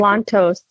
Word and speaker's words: Pavlantos: Is it Pavlantos? Did I pronounce that? Pavlantos. That's correct.